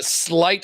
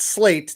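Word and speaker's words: sleight: yeah sorry yeah uh slight of hand s ght it's SLE I ght yeah not slate they're both spelled they're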